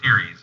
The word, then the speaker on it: Ceres: It's pronounced Ceres, if anybody wants to look up.